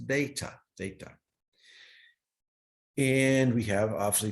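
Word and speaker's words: θ: Theta, it's pronounced theta, theta.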